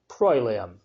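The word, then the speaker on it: proelium: battle PR o e Li um which is pronounced prolam finally UI which is pronounced we and it's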